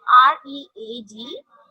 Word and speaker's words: read: If we are using the read as a first form, so we pronounce read. And if we are using as a third form, so we pronounce it read.